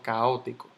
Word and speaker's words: caótico: Yo no digo caótico ni caótico, yo digo caótico.